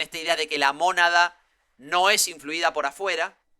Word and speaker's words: mónada: que es mónada, con acento en la O. Porque monada No, suena como nada.